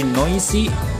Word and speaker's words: noisy: seperti dicontoh yang kedua dari noisy dibaca dengan huruf esnya dibaca dengan huruf z very noisy kemudian yang